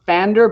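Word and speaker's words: Pfander: called paffander and i i think it's pronounced fander but it's spelled with a p so it's spelled p-f-a-n-d-r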